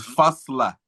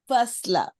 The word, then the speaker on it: Fa9la: I mean, of course, how do we pronounce it? Is Fa9la? What is it about? It's it's it's called Fasla. Fasla.